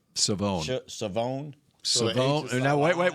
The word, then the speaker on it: Shavon: First pronounce his name. Mickey Revel. I thought it was Siobhan. Savone.